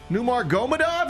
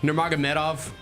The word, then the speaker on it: Nurmagomedov: Khabib Numar Gomeov, you know this guy. That was close. Help me. That was close. Nurmagomedov. Numar Medov. Believe that's the correct pronunciation. You were close.